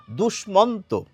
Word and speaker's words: দুষ্মন্ত: এবার আমরা জানিয়ে রাখি এর প্রচলিত উচ্চারণটা কি, যেটি বেশিরভাগ মানুষে আমরা বলে থাকি। এটিকে আমরা বলে থাকি দুষ্মন্ত, আর এটিকে বলে থাকি কুষ্মাণ্ড। কিন্তু কিছু মানুষ দুষ্যন্ত বলেন, কিছু মানুষ কুষ্মাণ্ড বলেন।